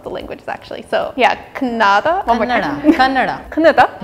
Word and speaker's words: Kannada: So yeah, Kannada. One more time. Kannada. Kannada. Just pronounce it as Canada.